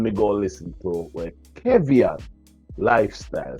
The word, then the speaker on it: Kevian: I saw me pronounce it Kevian.